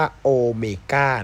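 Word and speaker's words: Ω: อะไร เนี่ย นะ ครับ อัน นี้ เป็น ตัว อักษร กรีก นะ ครับ อ่าน ว่า โอเมก้า นะ ครับ โอเมก้า มี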